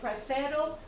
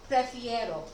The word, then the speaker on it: prefiero: It makes it easier to pronounce instead of prefero, prefiero. It rolls a little bit better off your tongue.